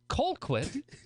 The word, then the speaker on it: Colquitt: seo baby yeah carly colquitt colquitt like the punter punting brothers yeah